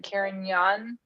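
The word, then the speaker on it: Carignan: young so the erin the g is kind of siren or it's like a glide i think you would say like caring young karen yes you don't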